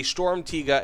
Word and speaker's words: Sturmtiger: this is not a stormtiga and a yes believe it or not that's how it's pronounced this is not a